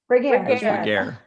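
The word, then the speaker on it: Regehr: Regar.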